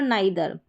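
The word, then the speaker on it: neither: यहाँ पर है हाइट यानी आई, हाइट और नाइदर, इन दोनों स्पेलिंग में ई आई का उच्चारण क्या आ रहा है, आई करके आ रहा है, क्या आ रहा है, आई।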